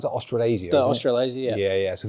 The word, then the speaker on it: Australasia: But thinking about like that team coming out of Australia, how do you pronounce it? Australasia.